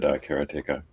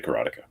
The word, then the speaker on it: Karateka: yeah he he said carracticus oh yeah pointing out that there's no emphasis on any syllable but I always said I still say karateka yeah yeah well I